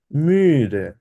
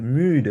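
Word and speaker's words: müde: মুডে এক্সাক্টলি ডুবাস মুডে মিডে এটা মুডে হবে না এটা যেহেতু ইউ এর উপরে উমলা উঠাইছে ওই জন্য বলবে হচ্ছে মিডে একটু বলা যায় ঠোঁটটা থাকবে হচ্ছে একদম কিছুটা গোল টাইপের ঠিক আছে মিউ ডে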